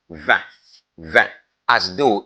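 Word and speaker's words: vingt: Remember the word vin ends with T, but is silent. It's not pronounced. It's pronounced vin, vin, as though it's only V-E-N, but G, T, and then they are silent.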